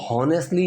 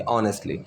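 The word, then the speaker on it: honestly: पहली चीज़ तो हॉनेस्टली, इसकी जो प्रोनाउंसिएशन वो नहीं होगी, ह की आवाज़ नहीं आएगी, अ की आवाज़ आएगी, ऑनेस्टली, ठीक है।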